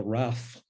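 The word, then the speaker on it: rafle: and this Roundup which in French is called the wrath um you'll excuse my pronunciation it's r-a-f-l-e was the most notorious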